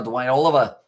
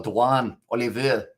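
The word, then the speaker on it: Duanne Olivier: This is going to be now Dwayne Oliver, or Dwan Oliver, I should say, on the pronunciation.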